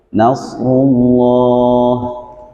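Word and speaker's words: نصر الله: Nah, maka lafdzul jalalah yang sebelumnya berharokat dhammah atau fathah, maka dibacanya tafkhim atau tebal. Vokalnya hurufnya O. Nasrullah, tidak nasrullah, nah, tidak A ya, tapi harus membulat O ya.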